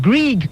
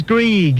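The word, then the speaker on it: Greig: I know, but my parents, they've spelt it G-R-E-I-G. And therefore it's Grieg. It's Greg. It's Grieg. Silent I. There's no such thing.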